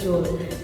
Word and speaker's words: joule: Joule tulisannya joule gitu, tapi bacanya joule.